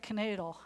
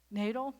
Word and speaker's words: Knadle: He's from Texas, but it looks like Canadle. I'm just saying. It's Knadle. But it's Nadal.